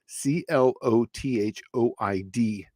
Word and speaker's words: clothoid: There's also another one too called a clothoid, or so I'm going to say it phonetically, clothoid.